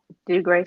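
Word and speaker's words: Dougray: So ultimately, you coming out and saying all of this stuff about how do you say his name? Degree Scott? Do Gray Scott.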